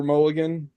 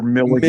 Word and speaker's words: Milligan: Is his name a reference to Peter Mulligan?